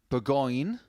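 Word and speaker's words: Bourgogne: And when you're talking about wine, you're talking about Burgoyne, which is spelt differently in 65.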